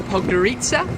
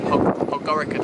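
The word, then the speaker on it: Podgorica: We've made it to Pogarita, which is how the train conductors told us it's actually pronounced. We've been saying Pog Pora the whole time, but we're now going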